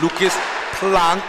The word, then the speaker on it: Planck: His dad informed me I was saying it wrong, so we're going to go with Lucas Planck this year.